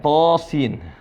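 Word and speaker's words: طس: Dibaca panjang, to sin. Nah, dalam Al-Quran sering disebut begini. Cara bacanya adalah to sin. Baik. Bisa dilihat, perhatikan to-nya dibaca 2 harokat saja.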